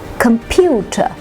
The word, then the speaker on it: computer: words with three syllables computer computer so the middle syllable is carrying the stress now disaster disaster the